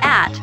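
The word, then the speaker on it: @: net is the name for an electronic post the symbol in the middle is pronounced like the word at it means that slow is located at the host kingdom.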